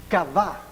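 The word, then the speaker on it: qavah: La palabra kavá, casi como decir kavá de cavar, solo que se escribe Q-A-B, ¿qué es la bidental? Y A con tilde, kavá.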